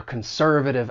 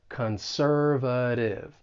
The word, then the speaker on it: conservative: When pronouncing this word, the stress is on that second syllable, and the T, I'm going to pronounce it as a flap T. Conservative.